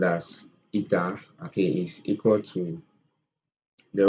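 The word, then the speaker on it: η: So the efficiency, which is represented with this symbol, which is pronounced as eta, okay, is equal to the work output over heat input.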